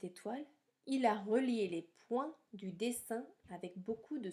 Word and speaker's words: point: Si tu regardes bien, à la fin du mot point dans cette phrase-là, il y a un T que l'on n'entend pas non plus.